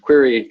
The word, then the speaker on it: Qri: I also work at a company called query that chooses spell it's named Qri we work on decentralized